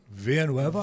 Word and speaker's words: Villanueva: Villanueva.